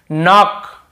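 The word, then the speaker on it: knock: सरट कब होता है एन से पहले के आता है तो सेरेंट होता है एन के पहले के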